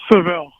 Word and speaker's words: Saville: It's Saville. Okay. Because Saville is the way that I've always pronounced it, and I didn't want to just default to that. So Saville.